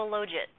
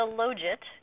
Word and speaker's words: logit: I once had a fight with a former graduate student about the correct pronunciation. He insisted that because you take the log it, it's the logit.